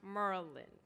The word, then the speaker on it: Maryland: dmv dc virginia and maryland which is informally pronounced merlin we are the capital